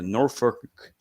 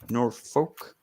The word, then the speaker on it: Norfolk: And you too can rebook World War III, 1996 from the Norfolk Scope. Norfolk.